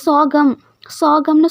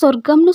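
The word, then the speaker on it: sorghum: இது வந்து கிரைன் சோகம்னு சொல்லணும். ஓகேவா. ஒவ்வொருத்தங்க சொர்க்கம்னு சொல்லுவாங்க, ஒவ்வொருத்தங்க சொர்ஜம் அப்படின்னு சொல்லுவாங்க. ஆனால் அது எப்படி ப்ரொனவுன்ஸ் பண்ணணும் அப்படின்னா சோகம் அப்படின்ட்டு தான் ப்ரொனவுன்ஸ் பண்ணணும்.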